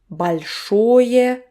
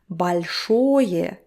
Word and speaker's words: большое: Большое literally means big. Большое спасибо. Again, vowel reduction. Большое спасибо.